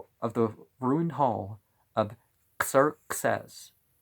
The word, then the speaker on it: Xerxes: the ruined Hall of Sir says I know people say Xerxes but I don't know the I don't know the Greek I'm trying to make Greek pronunciation so these place and